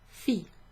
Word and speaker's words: fille: So if anyone's like struggling with the way that you pronounce daughter, then just think of the name Fiona or Fionn. Fion's a Welsh name, but fille. So just chop it down to the first syllable, and that's how you pronounce that.